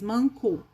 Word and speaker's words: manco: Para rimar, teria que ser mancó, né? E não manco. Tanto que o O vira U no final, quando a sílaba não é tônica, aqui para nós, em Minas Gerais, né?